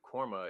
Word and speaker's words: KORMA: a a coffee company um how did you pronounce it again cormo quorma cormo y corma ko rma why that why'd you name it that i